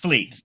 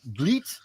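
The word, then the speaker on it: Vliet: Roland confirmed his pronounced Vleet yeah Vleet oh Vleet okay so it sounds more French that's why I'm ignorant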